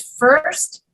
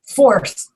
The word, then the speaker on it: first: were indicating that which when he says first he says force forced oh he says that vowel sound in the back of his throat you see my lips